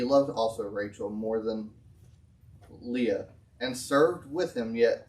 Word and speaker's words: Leah: and it came to pass that in the morning behold it was how do you say that name leah thank you i was trying to figure that